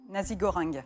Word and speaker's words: nasi goreng: Nasi goreng. Le nasi goreng, exactement, est très bien prononcé.